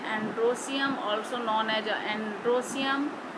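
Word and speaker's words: androecium: और इसको स्टेमेन को बोलते हैं एंड्रोसियम, सीधे सीधे बोलते हैं, स्पेलिंग उसी तरह से एंड्रोएशियम, ई लगाते हैं इसलिए, लेकिन बोलते हैं एंड्रोसियम।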